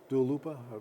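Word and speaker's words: Dua Lipa: Dalupa. That's the way you pronounce it.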